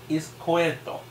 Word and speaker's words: Izquierdo: Oh, it's Izquierdo.